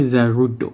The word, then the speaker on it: Zarude: Pokemon Zaru tu ataupun nama Japanese dia Zarudo. Dia setakat ejaan dia dia lainkan sikit aje macam English Zarud. Z A r u d e. Zarud macam rot yang kasar tu kan orang ajar tu.